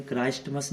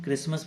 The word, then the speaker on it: क्रिसमस: क्रिसमस, आप भी सोचते होंगे क्रिसमस में टी क्यों आता है, जबकि टी को तो बोले क्राइस्टमस नहीं बोलते, इसको हम क्रिसमस बोलते हैं, है ना।